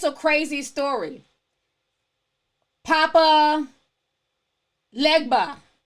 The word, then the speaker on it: Papa Legba: started warning her like it's a crazy story Papa Legba Papa Legba also I'm pronouncing it right I want pronounce it too